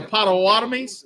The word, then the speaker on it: Potawatomi: Home of the Potawatomis.